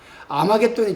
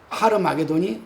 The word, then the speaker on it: 하르마게돈: 아마겟돈의 정확한 발음은 여러분 뭐냐면 하르마게돈입니다. 하르마게돈이 아마겟돈의 정확한 발음입니다.